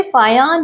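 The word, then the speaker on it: Fajans: फान रूल्स फान रूल्स फान के स्पेलिंग देखिए आप एफ ए जे ए एन एस यहां जे साइलेंट है इसे फया रूप पढ़ा जा रहा है ठीक है स्टार्ट करते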